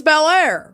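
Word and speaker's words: Belleair: Oh yeah, it's Bair, Florida. How embarrassing. By the way, Bair, Florida. Y'all get it together. It's spelled dumb, too. It's B E L L E A I R, but one word.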